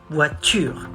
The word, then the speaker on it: voiture: Not tour, voiture.